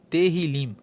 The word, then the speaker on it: Tehillim: Inclusive no hebraico, no texto original, o título do livro é Tehillim. Se escreve T-E-H-I-L-I-M e a palavra Tehillim, traduzida, significa louvores.